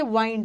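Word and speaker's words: wind: जो जो एग्जाम में आता है वो करना है, विंड मत पढ़ना। विंड का मतलब तो हवा होता है, हवा का V1 V2 नहीं होता है, नाउन है ना। ये है, उसको पढ़ोगे वाइंड।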